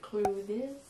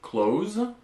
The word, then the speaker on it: clothes: Alors, les Français vont peut-être avoir envie de le prononcer clothes, quelque chose comme ça.